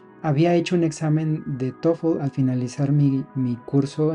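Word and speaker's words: TOEFL: cuales eran muy pocos puntos por cierto se pronuncia tofu mucha gente dice todo lo doy solo cosas raras pero la pronunciación correcta es tofu ese año me la pasé estudiando mucho más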